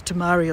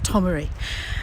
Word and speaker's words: Tomaree: I'm never sure whether it's Tamari or Tomaree, but I think it's Tomaree.